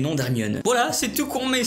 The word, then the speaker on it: Hermione: Il ne cessait de l’appeler « Herrrrmion ». – Her-mio-ne, dit-elle en articulant lentement et distinctement.